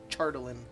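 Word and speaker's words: chardalyn: no it's okay it's hard h but it's pronounced chartalin one of the chardolin back and also let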